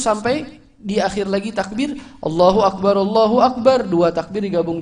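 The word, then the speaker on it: الله أكبر: Huruf ra-nya dalam kalimat akbar yang di akhirnya itu disukun, bacanya mati. Allahu Akbar, begitu bacanya.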